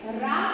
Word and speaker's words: ऋ: रा के रूप में हमारे सामने आता है। उच्चारण इसका री रहता है।